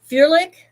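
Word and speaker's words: ferulic: So Furlic, Furlic, that's how you say it.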